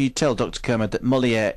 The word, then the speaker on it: Molière: Kermode that Molière is pronounced to rhyme with where?